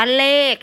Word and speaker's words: เลข: อะไร ก็ อ่าน ว่า เลข ใช่ ไหม เวลา เขียน แล้ว จะ เขียน รอ เอ ขอ เลข ถูก ต้อง ไหม คะ ก็ คือ ขอ ไข่ แต่ เวลา อ่าน จริง ๆ เรา จะ อ่าน ว่า อ่าน ว่า อะไร